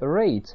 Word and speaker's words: rate: В слове rate последняя буква «и» не читается и лишь помогает нам понять, что буква «a» читается по правилу открытого слога.